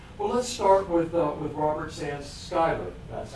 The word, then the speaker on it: Schuyler: Well, let's start with Robert Schuyler. That's how his name is pronounced.